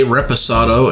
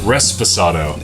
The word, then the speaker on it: reposado: So, anyhow, we was just having a discussion about how you say Reposado and not say it right. Which it's not Resposado. It's not Resposado, which I unfortunately have said multiple times.